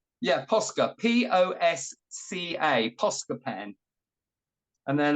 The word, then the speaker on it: Posca: across it oh I've got my favorite my posca pen which again I know people get better